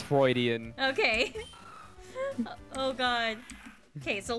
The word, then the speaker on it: Freudian: this is this is isn't it pronounced freudian is it pronounced floridian yeah it's freudian oh we've been saying